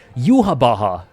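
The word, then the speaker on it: Yhwach: Yuhabaha.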